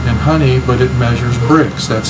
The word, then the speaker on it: Brix: uh water content in honey but it measures bricks that's spelled b r IX you can go online